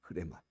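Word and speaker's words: ῥῆμα: 사실은 흐레마예요. 레마, 흐레마, 레마 이렇게 얘기합니다. 원래 발음 흐레마.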